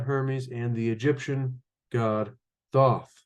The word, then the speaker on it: Thoth: and the Egyptian God Thoth to hot or those depending how you pronounce that t-h-o-t-h and so um according